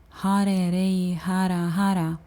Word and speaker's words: Har Ray Har Har: However, Har Ray Har Har sounds more like Har Ray Har Har, as it's easier to weave it together by adding an E and an A there.